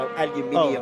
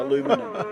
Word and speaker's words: aluminium: make sure that I made the translation from aluminium. Oh, thank you. Yeah, aluminium to aluminum. Yes, and it looks like it's spelt incorrectly in America as well with aluminum.